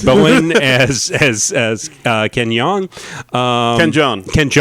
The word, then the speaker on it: Jeong: Ken Jeong. Young. I'm sorry, mispronouncing that.